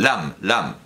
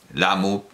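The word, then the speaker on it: ラム: y Lum, un beso, perdón, Lam, no debo leerlo como se escribe porque precisamente, bueno, Lam, la idea es que el nombre es Lam, Lamu, por la pronunciación japonesa, pero la idea es Lam.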